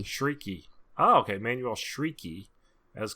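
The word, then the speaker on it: Chriqui: creek creating shrieking okay it's pronounced freaky shrieky oh okay emanuel shrieky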